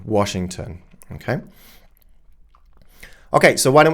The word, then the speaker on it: Washington: So, they just assume, well, this is how we pronounce it in German. This is going to be understandable in English as well. But this is Lon Washington. That's their German pronunciation rules. They're not English pronunciation rules.